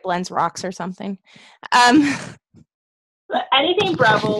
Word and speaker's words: Breville: Breville. Breville. Thank you. Breville.